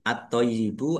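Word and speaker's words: الطيب: Wat toyibu wat toyibu alif at-toyibu alif lam samsiah karena tidak dibaca langsung masuk ke huruf berikutnya yaitu to ditandai toknya ada tasdidnya. Toknya dibaca double. Toknya itu agak berat ya dibacanya agak berat biar beda dengan tak. Wat to po wat toyibu yaknya ada tasdidnya dibaca toy dulu. Toy baru yi.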